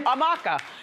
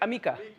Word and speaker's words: Amika: We're going to send you a $100 gift card to Amaka. And did I say it right? Amika.